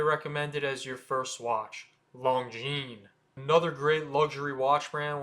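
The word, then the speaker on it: Longines: long jeene it's not long jeans the S at the end is silent as in most French words so it's just long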